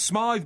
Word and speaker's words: Smyth: I think his name's Smythe, by the way, this chap. Well, why don't you ask him? Tommy Smythe. Yeah. It's spelled SMYTH. Yeah, it's pronounced Smith.